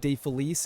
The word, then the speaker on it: DeFelice: Well, the typical pronunciation is DeFelice, but all right. My Italian ancestors will tell you it is De Felice. Oh, okay. Which means of happiness.